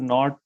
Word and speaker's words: naught: example delta h so this zero sign it is pronounced as not okay that is pronounced